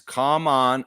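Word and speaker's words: Khaman: Should I learn how to pronounce Common Malak's name? Seriously, how do you pronounce? This will be fun. How do you pronounce Common Malak? Yeah, there we go. Let's see what it says. It's Kaman Maluwatch.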